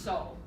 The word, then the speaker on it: 叟: But this is the word for old man, and it's pronounced so.